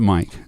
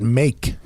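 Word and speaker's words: Mayk: Oh, sorry, it's a Dutch spelling of Mike. M-A-Y-K. Oh. So cool. M-A-Y-K. Yeah, you pronounce it Mike. I would Mike. pronounce that make. Well, of course, until someone corrected you and said Mike.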